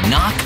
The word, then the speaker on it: knock: letter in kite and a silent k is also the first letter in knock over if you don't look